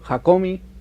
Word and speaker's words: Hakomi: Introdujo el método Hakomi, se pronuncia así, en la Argentina.